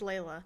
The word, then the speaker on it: Leila: I think it's pronounced liaila Miller have you heard of her or Layla Miller is it l-e-i-l-a yeah I think it's Layla Layla Miller um yeah I